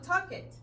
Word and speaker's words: talked: Talked, no talked, talked.